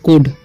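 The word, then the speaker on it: could: सी कुड, इसे काउल्ड नहीं पढ़ना, इसे पढ़ते हैं हम लोग कुड, ठीक है। LD रहता है तो एल का साइलेंट हो जाता है, ठीक है।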